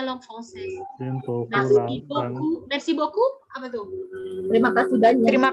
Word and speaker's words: beaucoup: Tulisannya neo cowok tapi bacanya beaucoup. J'aime beaucoup. Mubazir, Madam. Iya. Enggak juga sih. Tapi memang dari sananya gitu. EAU dibaca O, OU dibaca U. Beaucoup.